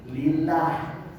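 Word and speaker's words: لله: ada Bacanya apa Bu lillah lillah karena depannya huruf kasrh Kalau depannya huruf e Kalau depannya harakatnya fathah atau mungkin damah dia tebal Allah wallahi wallahi kalau lamnya disifat itu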